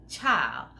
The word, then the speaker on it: Chile: CHILE is pronounced child because the E makes the I a long I.